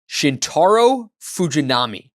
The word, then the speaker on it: Shintaro Fujinami: Can we get that right pronunciation? Shintaro Fujinami.